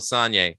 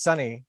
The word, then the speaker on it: Sonye: Again, I first became aware of Michael Sonye, aka Dukey Flyswatter. I gotta correct you. I believe it's Sonny, although you did say it phonetically.